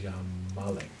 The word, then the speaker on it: Ya Malik: So that version of the pronunciation has baraka in it, and I don't discourage you from it, but the more correct Arabic pronunciation is Ya Malik.